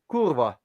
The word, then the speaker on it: kurva: The thing about Hungarian is the accent is usually on the first syllable, and that's Americans usually tend to Is the want to second. because Mm-hmm. you guys tend to accent the second syllable. Yeah. So that's the one thing. It's kurva, not kurva. It's kurva. Kurva.